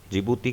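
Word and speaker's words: Djibouti: जिबूती की spelling D से start होकर और आगे जिबूती है, तो आपको कंफ्यूज नहीं होना है।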